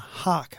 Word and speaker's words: Haque: And Alana Haque, I think it's pronounced, is that right, from St John's College? Hoaque, so Haque or Hake.